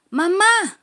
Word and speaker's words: mamá: la otra vez diles mamá mama cuando decimos mamá tenemos aquí este acento que quiere decir que tienes que decirle a más fuerte ma ma vamos grita